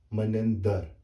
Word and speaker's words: Manendar: So this is correctly pronounced Manendar, not dar.